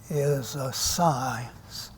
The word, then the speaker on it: psi: And it is pronounced like the PS in psychology. Now, in pronouncing the psi, the PS, what we do in English, we let the P be silent.